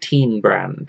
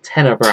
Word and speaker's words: Tenebrand: It's not Teen Brand. It's Tenebrand.